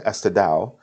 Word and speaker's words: Estadão: According to Estadão, I think is how it's actually pronounced, a local newspaper.